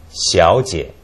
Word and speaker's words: 小姐: Xiao is a combination of she and ao, and it's not too hard. Xiao. And then jie is G and E, jie. Yes. So together it's pronounced as 小姐.